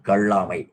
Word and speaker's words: கள்ளாமை: இருப்பதனுடைய இழிவு என்ன என்பதை கல்லாமை என்று முதல் நகரம் போடும் இது வந்து பொது லகரம் பள்ளிக்கூடத்திற்கு வருகிற விளகரம் கள்ளாமை அந்த சொல் சரியாக உச்சரிக்க வேண்டும் என்பதற்காக இந்த வேறுபாட்டை நாம் கூறுகிறோம்.